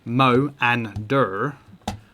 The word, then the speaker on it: Moanda: So Moanda, pronounced Mo and Dur.